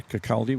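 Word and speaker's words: Kirkcaldy: Is it Kiraldi? Is that how you would pronounce? Maybe. Yeah. Kakali would be right.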